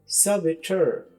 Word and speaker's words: saboteur: ब और टी यू आर जैसे ठर तो सबटर सेबेटर इसका मतलब है ऐसा फर्द जो जानबूझकर